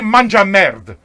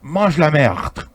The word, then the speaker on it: mange la merde: So she used to say, manja merde. Now, you guys are French. You understand that probably the proper way to say that is, mange la merde.